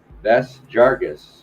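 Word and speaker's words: Yves Jarvis: He follows up on, goes under also the R&B by YVES, Ves Jarvis. So the Y is silent.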